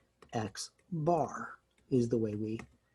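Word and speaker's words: x̄: so that's my sample mean again it's called x bar is the way we pronounce that let's erase that see the formula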